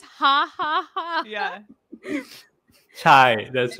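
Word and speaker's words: ห้า: It's pronounced ha.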